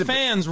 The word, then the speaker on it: Minifans: I understand Minifans rhymes with your name.